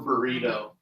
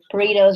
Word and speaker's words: burrito: Enchilada or burrito. How you say it? Burrito. Oh, do you have to roll your R? Yeah, and it's also boo. Oh. Not bird. Boo.